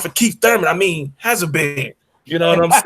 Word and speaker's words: Habazin: How you pronounce the bitch last name? Habazin.